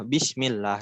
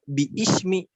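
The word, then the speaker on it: بسم الله: Lafaz basmalah itu sebetulnya kan bi artinya dengan, ismi nama Allah, bismillah dengan nama Allah gitu. Cuma kenapa enggak bi ismi? Nah, karena hamzahnya hamzah wasol, bismillahi gitu.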